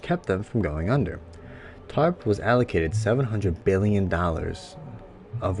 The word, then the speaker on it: TARP: bailout the troubled asset relief program or tarp pronounced tarp was designed to allow the government to buy